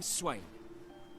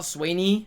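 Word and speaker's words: Swaine: Remind me that it's Swain and not Swaney from now on.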